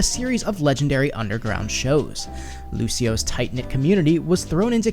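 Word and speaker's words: Lúcio: And quickly before we get into Lucio's backstory, the pronunciation of his name is the Portuguese pronunciation, which is Lucio, not the Italian pronunciation, which is Lucio.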